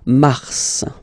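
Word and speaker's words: mars: it's an exception because normally final s is not pronounced in French okay we've got some exceptions and this one is one of them so Mar pronounce the final s mar mar okay then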